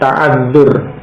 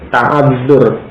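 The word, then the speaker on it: تعذّر: Nah, alasan yang demikian ini disebut dengan ta'adzur, ya, at-ta'adzur, ya. Ta ain zal ra, ya, ta'adzur, ta ain zal ra, ya, ta'adzur itu alasannya.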